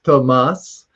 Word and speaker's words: Tomas: Yeah, just to point out, as far as names, pronunciations, it's Tomas.